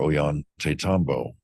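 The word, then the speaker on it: Ollantaytambo: And look for Oan Tatambo. And it's not O Yan, it's O L L. So, the two L's are pronounced with a yah sound.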